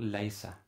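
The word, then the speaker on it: ليس: In other words, the ye will clash with the following consonant, which is a sin, and they're giving the result laysa. Laysa, so the ye and the s clash. They are pronounced just after each other.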